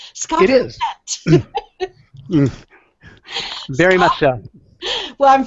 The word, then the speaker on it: Fegette: I'm going to say it wrong. Fegette, right, Scott? That's great. It sounds very French to me. Scott It is. Fegette.